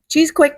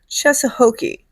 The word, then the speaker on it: Cheesequake: Cheesequake. New Jersey or as they say it's pronounced Cheshoki. Yeah, I don't get cheshokei from that either.